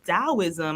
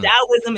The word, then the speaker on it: Taoism: Mom, what is this Taoism? I don't understand. Like, and Taoism is spelled with a T. So it's like, you think it's Taoism when you're little.